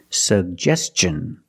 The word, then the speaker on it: suggestion: like juice and jump pronounce both sugest suggestion and t o n the T makes the CH sound so together suggestion suggestion put the stress on the second syllable he made a suggestion